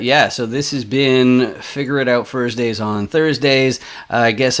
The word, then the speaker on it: FIGGERRIDOUT: it's really funny but figure it out yeah it's spelled funny f i g g e r r i d o u t that's what that's all